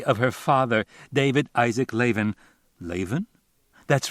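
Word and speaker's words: Lavin: Ira Bloom in memory of her father, David Isaac Leven. Leven. That's right. She pronounces it Leven. L A V I N with a long A.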